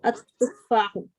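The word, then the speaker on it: التفاح: Which letter is here, Shamsi or Kamri? Here it is a Shamsiya. Shamsiya. Which one? Yeah. Which one? At-tuffahu.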